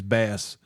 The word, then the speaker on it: Bass: his last name is Bass. You pronounce it how you want to pronounce it, but you know, bass. But he also is It's Bass like the fish, cuz it's a British last name.